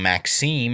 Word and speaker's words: Maxime: Next figure is Madame Maxime, as I've been told it's pronounced.